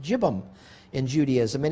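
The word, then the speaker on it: yibbum: said uh looks like yibam y-i-b-b-u-m but it's pronounced jibim in judaism and it's become a very rare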